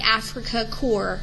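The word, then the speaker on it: Afrika Korps: are going after the Africa core which you remember is actually the German um Fighters and soldiers in North Africa Africa spelled with a K and then core spelled with a K also within a few months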